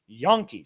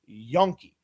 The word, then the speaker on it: Janke: Jackson and Jaden Yonke, spelled Janke, but pronounced Yonke.